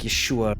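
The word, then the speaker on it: ישוע: We find this in words like YESHU'A, RU'ACH, NU'ACH, ha-ma-SHI-ach. In this situation, we have the pronunciation of a vowel prior to the pronunciation of the final consonant.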